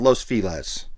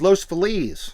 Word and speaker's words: Los Feliz: That's not how you say it, y'all. It's Los Feliz. And I say, my proof when I moved to LA in 2007, listen to the song Feliz Navidad. Same word. Feliz.